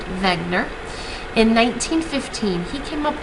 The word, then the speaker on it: Wegener: by a scientist named Alfred Wegener pronounced Wagner in 1915 he came